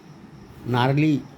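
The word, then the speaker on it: gnarly: उसी तरह से आगे देखें अपन साइलेंट जी, तो ना एन के पहले जी हो तो इसको बोलते हैं ना, नैट, नोम, नार्ली।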